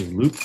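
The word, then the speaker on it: loupe: I get my key blanks a loop with a light. So, uh, loop is spelled L O U P E. And this this is kind of a loop. Uh, a loop is normally handheld.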